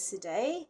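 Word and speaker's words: Cédez: If you haven't come across a double sharp before, at the end of that, the bar that says, it looks like Cedez, but I think it's pronounced Cede, there's an F sharp,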